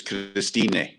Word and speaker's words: Christine: way it's spelt and you just pronounce the e so it's cristine in german because you